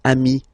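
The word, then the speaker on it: amis: it's the singular remember if you want to put the plural form then you just add this final s here okay but then technically you pronounce it the same way so singular form Ami plural form you add this s but it's Ami as well okay in that case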